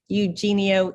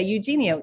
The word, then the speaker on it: Eugenio: husband's Portuguese and so I've just learned to spell it when I say it because people think it's a you you know they're looking up your name and so I just say Eugenio e u GE n i o um and so